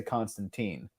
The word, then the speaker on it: Constantine: I think most people in the UK pronounce it Constantine. Whereas in the US, we say Constantine. So it's just a matter of where you live and where you're from that determines how you say that.